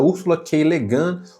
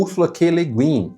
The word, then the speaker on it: Ursula K. Le Guin: E esse é um livro escrito em 1968 por uma mulher chamada Ursula K. Le Guin ou Ursula K. Le Guin, depende, eu vi várias pessoas pronunciando de várias formas e eu não achei